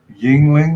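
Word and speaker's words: Yuengling: who's into this uh brand called Yingling or at least that's how he pronounces it yeah I think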